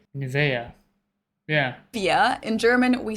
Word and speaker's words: Nivea: Nivea. In German, we say Nivea. Nivea. So the emphasis is on the E.